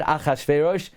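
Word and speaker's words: אחשורוש: It's read Achashverosh.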